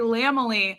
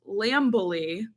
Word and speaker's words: Lamely: No, Mariah Carey Lamely. Okay, it took me way too long to realize that Lamely is not pronounced Lambily, and it is like Mariah Carey's family.